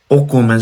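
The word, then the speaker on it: 米: এটা উচ্চারণ হচ্ছে কি কোমে, কোমে মানে হচ্ছে রাইস বা ভাত, এরপরে বে বা মাই। তো ও কোমে যে বলে রাইস বা ভাত, ও কোমের কাঞ্জিটা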